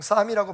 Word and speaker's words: psalm: 앞에 P자가 붙어 있습니다만 묵음이기 때문에 PSALM, 보통 쌈이라고 발음을 하는데 시편이라는 뜻입니다.